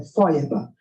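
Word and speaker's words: Feuerbach: já ouviram falar dele se escreve fe herbar ch FEB né mas o nome é é fba ele tem a essência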